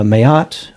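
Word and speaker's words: Ma'at: um the um uh mayat or mat whichever way you prefer to pronounce it um she gifts them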